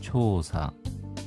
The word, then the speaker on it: 調査: 자세하다 상세하다 원인 초사 조사 초사 장음입니다.